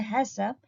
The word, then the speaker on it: HACCP: about principles of hassan haccp usually pronounced as a hassop have a full form